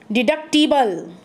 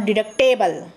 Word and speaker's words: deductible: Deductible. It is pronounced as a deductible, not deductable. Yes, very wrongly we are using that I have to go for deductible amount.